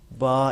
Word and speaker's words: ب: کے بعد زبر ہے، با یعنی با کر کے پڑھیں، بے نہیں پڑھیں.